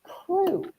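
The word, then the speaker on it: krewe: k r e we which is pronounced crew and so therefore they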